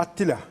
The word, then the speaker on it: Attila: Hocam Attila'nın telaffuzu nedir? Tam ismi Attila diye çifte çifte ve bunun Attila ilan doğru yani.